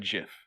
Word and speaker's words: GIF: Everyone said GIF. Well, that's how it's pronounced.